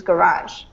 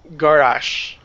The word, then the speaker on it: garage: I'm just helping you on your pronunciation, which is garage. Garage. Garage. Garage. Okay, and if you're from Britain, it's a garage.